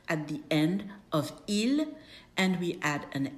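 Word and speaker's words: ils: It's il l and it sounds exactly the same as their singular version.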